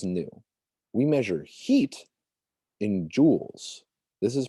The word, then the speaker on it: joule: like a necklace this is pronounced joules so if you come to this in class be like uh joel's no joules so okay length measured